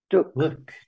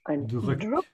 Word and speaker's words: drück: Drück. Drück. Make sure to pronounce the umlaut by stretching your tongue forward.